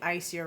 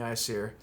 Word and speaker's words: Aesir: They say Aesir, but in the book it says it's pronounced with like I. The AE is reversed to make it always sound like an I.